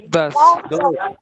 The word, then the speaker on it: does: Das. Sí, muy bien. Ahora sí, Das. das. Se pronuncia como das, ¿listo? Nunca digas does, suena terrible.